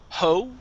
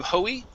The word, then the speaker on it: hoe: this word here is ho the e is silent instead of hoey it's ho ho okay i i don't